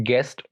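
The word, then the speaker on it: guest: silent रखा जाता है मिसाल के तौर पर गेस्ट यहां पर आप देखेंगे कि जो लैटर यू है वह जी और एक बाउल लैटर जो के है उसकी ध्यान आ रहा है तो ऐसे किसी ने you will bay silent गेस्ट guitar play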